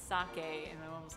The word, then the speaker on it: sake: I think what it is my mom didn't know which way to pronounce it. Because I was being weeby, and my mom was like, sake, and I was like, it's sake, and my mom was like, rice wine, whatever.